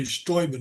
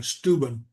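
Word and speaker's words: Steuben: And notice I say Stoben, not Stuben.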